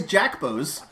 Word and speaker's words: Jackbos: No, I am not mispronouncing the name Jacobs. His last name is Jackbos.